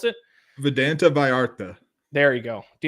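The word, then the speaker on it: Vidanta: Is that how you pronounce it? Vedanta Vallarta.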